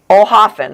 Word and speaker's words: Oelhoffen: But it was Oelhoffen is how you say the last.